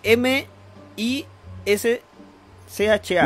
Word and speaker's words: Mischa: Mis m se escribe m i s c h a. Mischa. Mincha y la pichula. ¿Cómo se pronuncia? Micha, no micha.